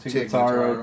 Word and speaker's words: Tig Notaro: Tig Notaro, is that how you pronounce it? Tig Notaro, good one.